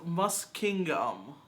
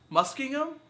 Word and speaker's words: Muskingum: talk me through uh the school is pronounced mus kingom muskingham mus kingham mus kingham okay we apologize for